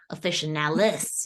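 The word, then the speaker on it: officinalis: going to be like actually it's officialis you know not a fashion necklace but but you know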